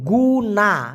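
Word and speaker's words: guna: হয় যদিও মালয়েশিয়ান ভাষায় জি ইউ এন এ উচ্চারণটা হবে গুনা একটু আগে গুলা বলছি গুলা মানে হচ্ছে চিনি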